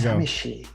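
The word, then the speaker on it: さみしい: There we samishi. Samishi means sad and lonely. It's probably the best English pronunciation of it.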